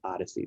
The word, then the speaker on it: OHDSI: and informatics collaborative or ohdsi which is pronounced odyssey this is a worldwide